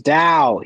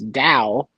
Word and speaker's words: Dao: will not change it's Dao it's pronounced the Dao it's the way uh and if you